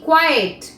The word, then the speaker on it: quiet: যেহেতু ই আগে আছে, এর উচ্চারণটা আমরা করব কোয়েট। আর যেহেতু এখানে টি আগে আছে, ই পরে আছে, সুতরাং এর উচ্চারণ করব আমরা কোয়াইট।